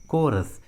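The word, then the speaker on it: chorus: है तो एच का उच्चारण नहीं करते, एच साइलेंट होता है। For example कोरस, कोरस।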